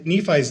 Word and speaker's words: Nephi: goodly beautiful fair and by Nephi's day the are and had come to be pronounced with a e so it would have sounded like Nephi as you find in translations